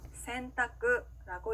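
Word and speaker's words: 選択: 자, 이 행들 앞에 응이라는 글자가 왔을 때는요, 니은 받침처럼 소리가 나는데요. 예를 들어서 선택이라고 하는 일본어 단어는요, 센타쿠라고 읽습니다.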